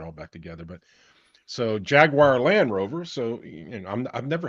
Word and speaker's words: Jaguar: I think the correct pronunciation over there is Jaguar. Yeah. Jaguar.